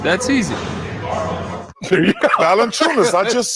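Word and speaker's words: Valančiūnas: He phonetically wrote it down. Earlier tonight. Okay. Ernie, I talked to Jonas Valanciunas.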